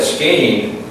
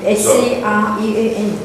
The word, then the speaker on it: screen: Because you may know what it means, but if you're calling it skiing, people are going to, whoa, what? What's he talking about? And S-C-R-E-E-N, screen.